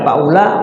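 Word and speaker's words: أولئك: Wa huwa faula, u-nya di situ sofrun kosong, u-nya nggak dianggap, tidak ada. Ya, jadi nggak panjang. Faula, u-nya nggak panjang. Ya, kalau dalam hukum bacanya nama sofrun mustadir. Nah, sofrun di situ nggak dibaca, dianggap tidak ada. Dan biasanya dalam Al-Quran itu nggak ada tanda domba, nggak ada tanda sukunnya. Di wawu ada tanda sukunnya nggak? Nggak ada. Itu tandanya nggak panjang.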